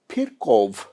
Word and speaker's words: Virchow: And next one is Rudolf Virchow. Here not F, no B, but we pronounce in this language it is pronounced as what? Virchow.